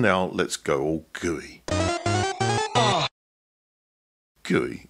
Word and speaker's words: GUI: Guey is spelled GUI and stands for graphical user interface.